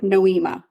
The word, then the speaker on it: Nohema: it than I am is it noima noima but they say it fast and it just like it flows beautifully right last name Graber noema I'll remember that noema